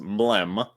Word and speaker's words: MLM: Jared said you played MLM, which is pronounced Mlem.